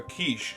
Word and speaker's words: quiche: a quiche. I couldn't tell. Quiche. He's joking. I couldn't tell. Yeah. Oh man. Yeah, it took me a second, but then it's like, oh yeah, you're just deliberately mispronouncing quiche.